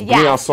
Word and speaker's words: Briançon: Yeah, you see when it has that little thing on the bottom, you say it like soft. So it's Briançon.